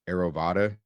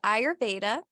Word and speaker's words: Ayurveda: explain what the Aero aerovada I probably butchered that yeah it's called ayurveda and it is a